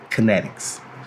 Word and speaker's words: KNTXT: It's spelled KNTXT, Kinetics.